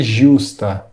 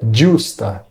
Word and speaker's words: giusta: Lembre-se que o GI em italiano tem som de DGI, então nada de giusta. O correto é giusta.